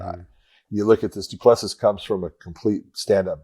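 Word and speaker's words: Du Plessis: uh how do you say his name driskis duplessis duplessis yeah you're talking about two guys that are really good when it comes to the stand-up and so that I you look at this duplessis comes from a complete stand-up background he's really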